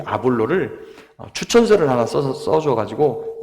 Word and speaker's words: 아볼로: 근데 사역을 하다 보니까 성경을 매우 잘 아는 아주 뛰어난 인물 한 분을 만나게 되는데 아볼로라고 하는 분이에요. 이제 우리 이렇게 영어 영문식 발음으로 하면 아폴로입니다.